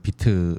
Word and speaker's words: Vite: 예, 비트가 이제 그 VITE 이제 발음은 비트로 네.